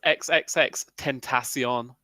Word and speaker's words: XXXTentacion: knows how to pronounce I've heard the man say it himself what does he say he says XXX tentacion tentacion yeah okay well then